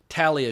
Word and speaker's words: Talia: We got Roman Coppola, Nicolas Cage, Talia Shire, or as Coppola pronounces it, Talia Shire. I feel horrible saying Talia Shire, but Coppola has a New York accent. That's the way he says it.